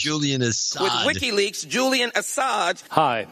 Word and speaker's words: Assange: Hillary losing, and then she has this interesting mispronunciation of Julian Assange. Oh, yeah. Now, this is Julian Assad ISO. With WikiLeaks, Julian Assange.